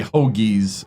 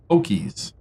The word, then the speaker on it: Hokies: I always say Hoagies. I don't pronounce the K. I need to start pronouncing the K. Hokies.